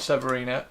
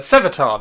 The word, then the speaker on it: Sevatar: to say his name, I want to say Seina, but it's not Seina. It's um Oh god, I've just clicked the wrong thing. Uh, Night Lords. Uh, Sevatar. There we go. Sevatar, not Severina.